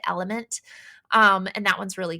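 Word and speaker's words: LMNT: lot is called element it's l m NT but you pronounce it element um and that one's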